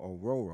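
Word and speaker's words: Orhorhoro: a 489 ruk aoro excuse me ororo ororo I think I'm saying it right right the hes are silent had to had to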